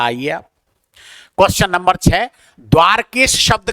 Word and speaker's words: द्वारका: बहुत सारे लोग अनुचित वो करते हैं प्रयोग इसका उच्चारण गलत करते हैं। द्वारिका करते हैं। द्वारिका शब्द नहीं है। ये द्वारका है। क्या है इसका उच्चारण? द्वारका।